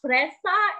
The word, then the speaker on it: Shpresa: It is Shpresa. It is pronounced Shpresa and its meaning is hope.